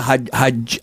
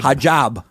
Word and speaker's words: hijab: I mean, she had uh the Haj I always pronounce it wrong. Hajj. Hijab.